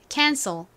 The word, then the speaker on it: cancel: 부부는 씨가 또 와요 c는 키읔 소리도 나지만 쌍시옷 소리도 나잖아요 뒷부분에서는 c가 쌍시옷으로 소리가납니다 자 그리고 그 다음은요 el이 옵니다 여기서 2가 소리가 굉장히 약해지면서 cl의 소리와 같이 발음이 난다라고 말씀드렸죠 발음 따라해 볼게요 cancil 좋습니다